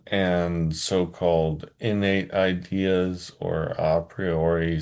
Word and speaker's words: a priori: so-called innate ideas or a priori some people say a priori. I think opriori is more faithful to the restored high classical pronunciation of Latin.